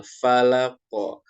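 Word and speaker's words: فلق: Nah, huruf qaf ini ketika diwakafkan atau cara bacanya dihentikan atau disukunkan, dia menjadi memantul. Falaqo, falaqo.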